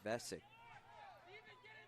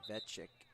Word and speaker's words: Vesic: Going deeper into their bench for another freshman, Jacob Vesic, the culprit. I should say Vecic, the correct pronunciation of his name.